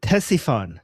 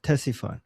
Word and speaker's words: Ctesiphon: Uh T- uh Ctesiphon. Ctesiphon. Okay? So, Ctesiphon in uh So, the C apparently is not uh silent.